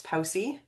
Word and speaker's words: POWC: This presentation is a production of the Pacific Offshore Wind Consortium, which we pronounce POWSI.